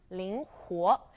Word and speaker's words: 灵活: It's L-I-N-G, ling, and it's second tone, so our tone marker goes above the I, the only vowel, ling. Now, huo is a little bit tricky to pronounce, huo, it's the u sound, ling huo, And it's a second tone as well. So we place our tone marker above the final vowel, O.